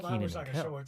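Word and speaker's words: Kenan: Some other hit shows included Launchbox and Keenan.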